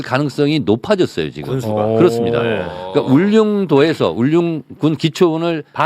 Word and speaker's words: 울릉도: 그니까 울릉도에서 울군 기초을 발음은 좀 잘 안 되네. 울릉도 울릉이라 그래. 어 발음이 전혀 안 되시네. 울릉군. 아이 울릉군. 울릉군. 근데 평상도분들은 울렁도 이렇게 하나.